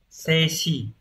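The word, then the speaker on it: 静止: Từ đầu tiên, từ này là đọc là seishi.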